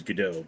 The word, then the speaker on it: Gadot: The correct pronunciation is Gadot, but the only real problem I have with her is she's not beefy enough to play Wonder Woman.